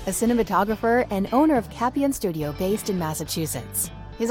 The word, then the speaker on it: Capion: So yes, it's pronounced Capion. Okay, Capion.